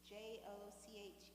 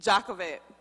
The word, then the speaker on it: Jochebed: Jochebed.